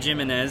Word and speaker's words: Jimenez: No, Phil actually pronounces his name Jimenez. That's Yep. how he prefers it.